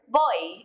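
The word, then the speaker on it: voy: bit on the pronunciation in Spanish v's and B's sound a lot alike and they're pretty much just a mixture of the two letters after Bo you're going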